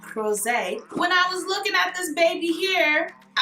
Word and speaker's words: Rosé: You just have to say it like that, Rosé.